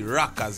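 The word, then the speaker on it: Rockaz: new sound that we're coming with but we spell it R o c k a z rockas you know I mean reg music that rocks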